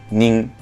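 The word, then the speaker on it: 人: Y esto, cuando lo utilizamos como contador, se lee nin, nin, que se escribe en hiragana, así, ¿verdad?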